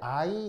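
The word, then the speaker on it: yne: 뜻은 삼중 결합을 얘기합니다 읽을 때 I 이렇게 읽으시면 돼요 그래서 타인이라고 읽으 돼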